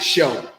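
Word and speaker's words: shew: s-h-e-w right awesome yeah that's the old quaker english word for show so whenever you see that you just pronounce it show because that's what the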